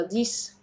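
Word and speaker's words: dix: الارقام يعني زي رقم سته سيس رقم 10 ديس طيب امتى بنطقه ز لما بيجي في ارقام بس مركبه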